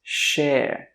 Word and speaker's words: share: It's share. Share. When we say the SH sound in English, your tongue does not touch the top of your mouth.